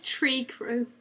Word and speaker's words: Trikru: Tree Crew? Sorry. So the clans have all got, like, names. Okay. So it's spelled differently. It's spelled Trikru, but their like fighting